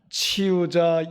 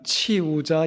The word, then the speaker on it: 치유자: 치유자 예수님. 치유자 예수님. 한 번만 발음을 또박또박 다시 한번 하겠습니다. 시작. 치유자 예수님. 요게 발음을 잘못하면 치우자 예수님이 됩니다.